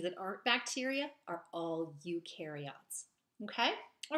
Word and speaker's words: eukaryote: different categories because of that okay so a eukaryote and that's how you pronounce that e-u-k-a-r-y-o-t-e-s and again our eukaryotes are